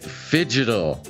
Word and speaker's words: Phygital: and today get fidgetal we say it like that I don't know how to post that that's how you're supposed to say it uh signing on for